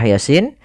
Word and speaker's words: Yasin: lafal bacaan Yasin ini yang kita panjangkan adalah Sin ya hati-hati jangan sampai malam mengganti kebalik misalnya Yasin ada yang sering terjadi membacanya adalah malahanya yang dipanjangkan bukan sinnya padahal yang harus dipanjangkan pada ayat ini adalah huruf sinnya yang di mana ya